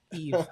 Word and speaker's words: YVE: yvee it's sorry it's spelled y-e-v-e but it's pronounced the Eve hotel um but we um we stayed in